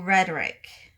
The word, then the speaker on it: rhetoric: l it'll become rhetorical so it'll change the way that it's pronounced um based on an ending so it's rhetoric without the ending of a al then it becomes rhetorical all right so then i